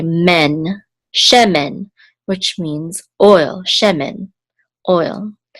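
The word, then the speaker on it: שֶׁמֶן: which says share and this is the accent mark so the accent is on the first syllable che this is a remember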